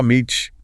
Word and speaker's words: homage: And the video mentioned something about how people say homage. Oh, right. Pronunciation. Some Americans might drop the H sound. Oh, Meech. British English speakers usually keep it h oh my. But, you know, either way works, people understand.